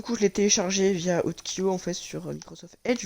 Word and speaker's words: Utkio: Du coup, sur Spell Texture, du coup, je l'ai téléchargé via Utkyo en fait sur Microsoft Edge. Donc, cherchez juste FNAF 2 Utkyo, donc UTKIO.